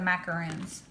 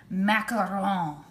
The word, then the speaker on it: macaron: the filling for the macaroons macaron you gotta say it like that i know you look